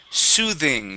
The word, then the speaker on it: soothing: first up we have soothing this is a voiced th soothing s good good okay